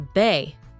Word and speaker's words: በ: Consider the letter be, for example, which is pronounced as in the English words bed and Belgium.